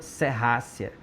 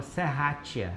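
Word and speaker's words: Serratia: Isso aqui é uma famosa serrácia, provavelmente uma tem gente que fala serrátia, não tá errado porque é assim que se escreve mesmo, tá? Mas é uma serrácia.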